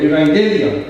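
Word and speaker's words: εὐαγγέλια: Asimismo seetrea, no se deretrea, se pronuncia en el griego evangelia.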